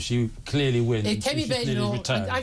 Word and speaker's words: Badenoch: If Kemi Badenoch, her husband told me it's pronounced Badenoch. I'm going with Badenoch.